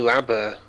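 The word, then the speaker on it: Rabbot: The T's silent. How is it pronounced then? Enlighten me, Jamie. Bunny Rabbit.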